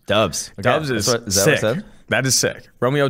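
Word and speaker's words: Doubs: the board because i found out how to pronounce his last name guess it's dubs dubs dubs that is sick romeo dubs that is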